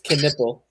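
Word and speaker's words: Knueppel: It's Canipple.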